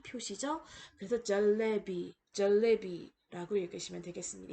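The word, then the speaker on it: जलेबी: 자, 오른쪽에 있는 단어 중간에 오는 이 주황색 음절을 보시면은 러에다가 에가 붙었죠. 그래서 레라고 발음하시면 되겠습니다. 첫 번째 단어는 쉐르라고 있는 힌디어 단어로 사자를 뜻하고요. 오른쪽에 있는 단어는 절레비.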